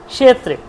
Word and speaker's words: ক্ষেত্রে: তাহলে সে কষ ক্ষেত্রে ওটা কিন্তু ক্ষেত্রে বলব না কিন্তু কষেত্রে কষেত্রে ক এর উচ্চারণটা কি একদম সামান্য কষেত্রে ক একদম সামান্যতম উচ্চারণ কর্ষেত্রে কষেত্রে কষেত্রে দেখতে পাচ্ছেন ক সটা কোন স মূর্ধা স মূর্ধা স উচ্চারণ কি স তাহলে স ধর্ম ক্ষেত্রে